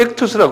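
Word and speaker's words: ΙΧΘΥΣ: 그래서 이게 어떻게 되면 이크 투스 이렇게 쓰죠. 이크투스 한번 발음해 보세요. 예. 이게 물고기라는 소리. 이게 물고기를 익투스라고 그래요.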